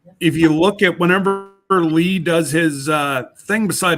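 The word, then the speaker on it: Leigh: for him is pronoun is spelled l-e-i-g-h Lee not l-e-e l-e is my middle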